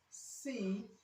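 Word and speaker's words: cease: suspect car we have a c b c c c and d another spelling of C okay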